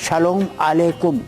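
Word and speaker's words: שלום עליכם: वालेकुम यहूदी सलाम है यहूदी उच्चारण शलोम अलेकुम आज भी एस एच ए एल ओ एम ए एल ई आई के यू एम शलोम वालेकुम शलोम है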